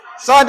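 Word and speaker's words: صاد: sad tadi Ustaz kata macam mana Eja sad sad Alif Dal rupa-rupanya di hujung ejaan sad itu ada Dal Dal itu bertanda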